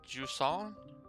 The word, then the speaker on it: Jusant: uh it's pronounced like jua it's a French thing um it's a it's